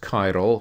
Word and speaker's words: chiral: various words, such as chiral, which is C-H-I-R-A-L. When we pronounce it in English, we pronounce it just something like a K.